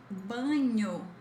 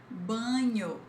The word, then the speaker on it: banho: We've got banho, banho. It's not ba, okay? Not banho, it's ban, banho, which means shower.